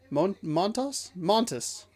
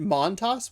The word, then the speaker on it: Montas: I feel like it's another one of those things where it's a smoother pronunciation. It's not as syllabled as I'm pronouncing it. So I'm saying it Montas when it could be Montas. Something like a little Montas.